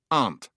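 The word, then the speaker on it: an't: And amn't came to be pronounced aunt, which was spelled A-N''T.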